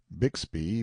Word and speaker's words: Bixby: manner are you Horace bigsby's cub Bixby being usually pronounced Bigsby in River parlance Sam answered politely enough